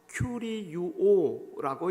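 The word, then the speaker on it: κυριεύω: 여러분, 여기서 주라고 번역된 헬라어는 주보에 쓰인 바처럼 큐리유오라고 읽는데 주인이 되다, 다스린다 라는 의미가 있습니다.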